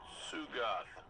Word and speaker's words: Tsugoth: We have tracking on that Knight, critter named Tsugoth. T is silent.